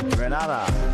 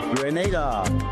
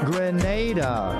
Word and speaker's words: Grenada: So today, like we Germans say, we are in Grenada. But I heard in English it's called Grenada. Say it right. Grenada.